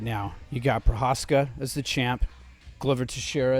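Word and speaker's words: Procházka: Prohaska.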